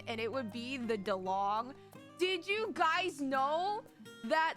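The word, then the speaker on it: Dilong: D-I-L-O-N-G. It's pronounced DeLong.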